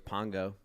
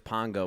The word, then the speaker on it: Pongo: McDonald's my nickname was Pongo excuse me my name was Pongo when I worked in McDonald spell it P O N G O Pongo like Bongo but with a p no I think it's